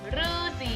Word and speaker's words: ฤาษี: ปี ที่ ผ่าน ว่า ฤาษี คำ นี้ ออก เสียง ว่า รือ คือ ๆ อีก รอบ